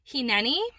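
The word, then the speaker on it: הִנֵּנִי: So it's a Hebrew word, and I believe it's pronounced hineni, and it means, here am I.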